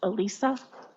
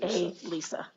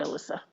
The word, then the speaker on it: Elisa: And I just want to make sure everyone knows her name is pronounced Elisa. It's a Lisa, not Alyssa.